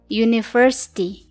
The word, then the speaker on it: university: Iya, memang U itu adalah vokal, tapi pengucapannya pada kata university itu adalah konsonan yaitu Y atau Y. Pengucapannya university.